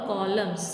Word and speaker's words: columns: MATCH match the कॉलम्स, COLUMNS कॉलम्स. Here N is silent.